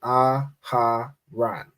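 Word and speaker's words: אהרן: go with aaran right this is a word with four letters but three syllables right aharan Right? That's how you want to read Hebrew.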